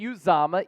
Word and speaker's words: Uzomah: Ian Rapoport, NFL Network, breaking the news just moments ago on this Thursday afternoon that CJ Uzomah, yes, that's the correct pronunciation, I looked it up, he said it